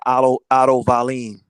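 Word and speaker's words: Otto Wallin: at wilder because of what happened to otto vallen that's how you say it with that cut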